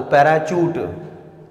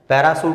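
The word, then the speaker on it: parachute: उड़ा था वो, पैराशूट, पैराशूट नहीं होता वो, पैराचूट, पैराशूट गलत बोलते हैं, तो आपकी स्पेलिंग अंडरस्टूड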